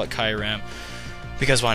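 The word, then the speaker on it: Kyurem: So he sends in a Kyram, or Kyuram. There's a lot of pronunciations for that, but whatever. I call it Kyram, because why not?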